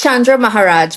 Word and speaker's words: Chandra Maharaj: Yeah, it's Chandra Maharaj, but many people pronounce it many different ways.